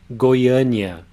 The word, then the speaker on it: Goiânia: Here we have the vowel A in two syllables. In the first one, it has again the sound, and the circumflex accent is also telling you that that's the strongest syllable. The A in the last syllable is an open A sound.